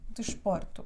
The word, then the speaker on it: desporto: última penúltima que dela o desporto desporto tu é a última sílaba por é a penúltima então o acento recai aqui cansado que dela desporto